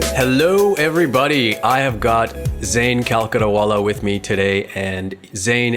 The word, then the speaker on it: Zain Calcuttawala: What is the pronunciation that we need to default to here? Well, I normally just say Zain Calcuttawala.